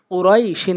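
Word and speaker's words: قريش: বানান করলে কুরাই শিন, বানান করলে পুরাটা উচ্চারণ করলে মদ্দে লিন হবে না। যখন আমরা ওয়াকফ করব লিনের হরফের বামের হরফে, তখন গিয়ে মদ্দে লিনের নিয়মটি হবে।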